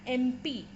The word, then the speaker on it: MP: with a consonant but the sound it is making is that of a vowel therefore and MP and